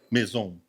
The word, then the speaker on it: Maison: Então esse foi o nosso querido Brindando com Edu, oferecimento de Maison vinhos e espumantes. Só corrigindo a pronúncia aqui antes que a Érica me xingue. É maison ou mazon? Meson.